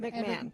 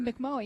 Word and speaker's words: McMahon: No H on it. I mean, there is an H. It's McMahon. Right. McMahon. Yeah. Well, I know somebody who was named who actually pronounced it that way. Pronounces the H? That's weird. McMohan, yeah.